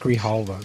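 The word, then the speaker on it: Grijalva: The the woman that just got uh um allowed into Congress with the impronouncable last name um Grihalva. Her name pronounced Ghalva. The J is Thank you.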